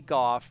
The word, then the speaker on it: Goff: Brad Stein, Goff, that rhymes with cough. That's the way you explained it to me. That was very smart. You know I won't mess that up anymore. I just think of cough now, and that's you.